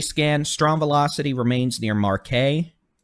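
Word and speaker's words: Marquette: strong velocity remains near marquet make sure I said it right that is pronounced Marque but Marque that's new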